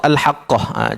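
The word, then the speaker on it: الحاقة: Macam mana cara bacanya? Alhaqqah. Ha tak boleh baca al-haqah. Sabdu tak ada kat situ. Tak boleh. Sabdu kita kena bagi dia tekan sedikit.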